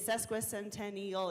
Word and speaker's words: sesquicentennial: sesquicentennial off that quickly it is sesquicentennial it is six syllables just practice it a few times you'll nail it in a few tries I promise representative cut